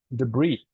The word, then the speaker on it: debris: you pronounce it debris it comes from the French I think so that's why you pronounce it debr and it's very common